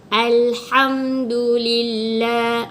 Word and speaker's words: Alhamdulillah: salahe Ilir aja dilantunkan jadi itu adalah kesalahan dalam membaca perkataan Ilham do.the dengan melantun salah Tapi bacanya betul adalah Alhamdulillah Oke hack.exe ini adalah